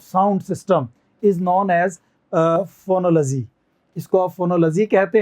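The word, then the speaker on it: phonology: कहते हैं हम लोग, LOGY का साउंड हमेशा लजी आता है, तो इसे आप फोनोलॉजी कहेंगे, सही उच्चारण का फोनोलॉजी होगा।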